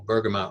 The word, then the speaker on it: bergamot: One of them is an essential oil called bergamot.